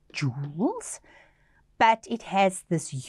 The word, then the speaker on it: joules: look at the word it's got a strange spelling it's pronounced jewels but it has this